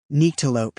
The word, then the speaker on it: Nyctalope: He pronounced it Nyctalope. Joel almost laughed, but hid it by standing and tossing the chart onto the pile. Nyctalope, he said, stressing the long I sound in the first syllable, hasn't toured New Mexico